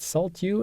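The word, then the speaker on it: SLTU: So we've got SALT-U and we've got SNES, and you're going to use the SALT pronunciation in order to keep track of these variants, which are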